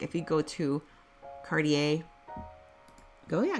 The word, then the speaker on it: Cartier: from Ubly to Uber LaPorte foreign correct pronunciation like if you go to Cartier go yeah Cartier you know you know I feel like a